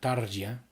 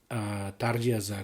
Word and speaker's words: Tarja: Here is the first one here from Tarja. I believe that is how she herself pronounces her name.